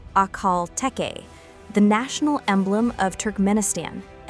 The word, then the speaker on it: Akhal-Teke: We are talking about the Akal Te pronounced Akal Te, the national emblem of Turk Menistan and the oldest horse breed still existing in its pure form.